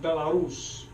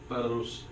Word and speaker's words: Belarus: won by 4 against Belarus. Did I say it right? Because you're the Russian. Belarus. Say it again? Belarus. I said the Bela is too long. Belarus. And You gotta sing the R's.